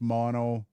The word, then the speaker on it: Maono: I know Maono is pronounced mono. I'll never pronounce it mono.